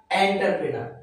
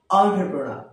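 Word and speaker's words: entrepreneur: কি এডুকেশন আমরা এটাকে এন্টারপ্রেনার বলি কি বলি এন্টারপ্রেনার কিন্তু আসলে এর উচ্চারণ হবে অন্টপ্রেনা কি হবে অন্টারপ্রেনা নট এন্টারপ্রেনার কি হবে অন্টারপ্রেনা পরবর্তী ওয়ার্ড আমরা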